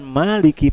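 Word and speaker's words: مَالِكِ: Nah, pembacaan Maliki pada ayat Maliki Yaumiddin harusnya kan sama dengan pembacaan Ar-Rahman, karena sama-sama mad 2 harokat.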